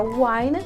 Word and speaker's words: wine: A gente pronuncia a palavra wine com uma vogal longa.